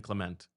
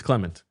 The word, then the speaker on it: Clement: Uh still Still hard for me to nail his pronunciation. Oh, yeah. Yeah. I'm just a big thing in 2017. I kept saying Clement. It's Clement, right? It's Clement.